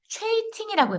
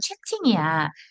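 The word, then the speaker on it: chatting: 근데 만약에 여기다 그냥 t를 안 붙이고 ing를 붙이면 최이팅이라고 발음해야 돼요. 최이팅. 그 최이팅이 아니라 이건 채팅이야.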